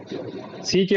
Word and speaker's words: sick: SICK, सिक, SICK सिक, लेकिन SEEK सीक। हाँ, ये ज्यादा लंबा जाएगा, ये सीक जो है लंबा खींचेगा और सिक जो है शॉर्ट रहेगा।